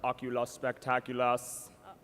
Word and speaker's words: Oculus Spectaculus: And that is pronounced Oculus Spectaculus.